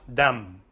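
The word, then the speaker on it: דם: Well, this blood in Hebrew is dam, dalet mem, pronounced dam.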